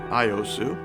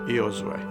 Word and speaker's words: Iosue: country and fellow americans my name is iosu and in italian it's ios way i've been very blessed